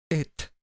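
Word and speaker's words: את: dos letras Qué significa esta palabra orta que hoy en día se pronuncia et y así se debe haber pronunciado en el pasado et alef taf entonces para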